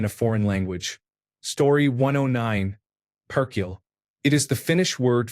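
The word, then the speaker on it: perkele: Perkiel. It is the Finnish word for The more you roll the R, the more emphasis you create.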